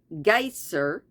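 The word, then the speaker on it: Geysir: six fathoms the geyser a word the icelanders pronounce Geer and which means Fury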